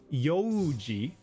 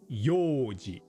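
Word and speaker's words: 用事: a but simply e So for yoji, which means plans, it's not pronounced yoji but yoji And the word for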